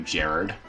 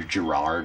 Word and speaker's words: Gerard: I can name you Gerard. Or Gerard, I guess. That's how I've seen it pronounced in Magic.